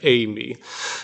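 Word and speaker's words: εἰμί: So remember this epsilon iota is like it's like freight train A. So it's like Amy.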